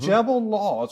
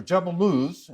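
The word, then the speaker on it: Jebel al-Lawz: that she mentions and Jebel laws or jeble L as it's properly pronounced is one of the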